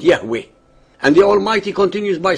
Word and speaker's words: Yahweh: himself as I am which in Hebrew is pronounced Yahweh and the almighty continues by saying that this